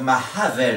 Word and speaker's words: Mahavel: Donc Mahavel, il faut bien prononcer le H parce qu'on a un H au milieu.